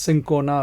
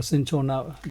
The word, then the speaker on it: cinchona: Quinine is a South American plant or tree coming from a tree called, it's pronounced as cinchona or cinchona.